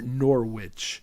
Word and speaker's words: Norwich: There's as it's pronounced here, Norwich.